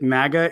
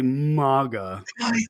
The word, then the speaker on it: MAGA: wearing it right now i'm just glad that you pronounce it magga and you don't say maga what is up with